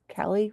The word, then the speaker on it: Cali: ourselves in what is Cali Cali rhymes with Valley um it's the Cali